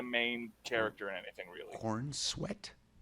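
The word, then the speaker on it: Corenswet: That's how people are saying it online, but it's spelled Corin Sweat.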